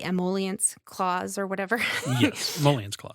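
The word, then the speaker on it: emoluments clause: Yes, emollients clause.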